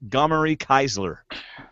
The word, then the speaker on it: Gomory Keisler: Forgive me if I say it wrong, but Gomory Keisler. Thank you. Did I say it right? Yeah, you got it right.